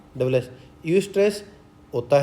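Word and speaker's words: eustress: इसकी स्पेलिंग क्या आएगी? ई यू एस टी आर E double S. यू स्ट्रेस होता है अच्छा तनाव।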